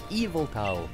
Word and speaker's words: Yveltal: And they pronounce the legendary Pokemon from Pokemon Y as Yveltal. Well, it's Eviltal, or perhaps even Eviltal.